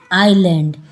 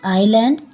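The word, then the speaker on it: island: ड लगा an animal an आइलैंड यहां पर एस साइलेंट है इसलिए हमने एन का प्रयोग किया है एन आईलैंड एन अ ईडी और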